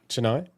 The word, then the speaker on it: Chennai: I was lucky enough to work with a doctor in the back street of how do you pronounce that? Is it Chennai? Chennai.